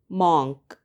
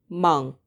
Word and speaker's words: monk: We tend to say monk. However, it should be pronounced monk. Monk. Here's a trick to help you. Remember that it rhymes with the word drunk.